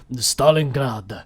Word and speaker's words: Stalingrad: know it as Stalingrad," he puts an emphasis on the grad of Stalingrad. And like for us, it's just like, oh yeah, Stalingrad or Stalingrad or however you pronounce it. But he's like, Stalingrad.